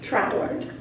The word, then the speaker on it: Troward: Some people say Troward, some people say Troward. We listened to someone who was English and he pronounced it Troward.